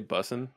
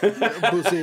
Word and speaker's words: Bussy: Does this say Cafe Bussin'? No. That's a good espresso. Yeah. It's Cafe Bussy. Bussy. Actually. It's actually French. It's pronounced Bussy.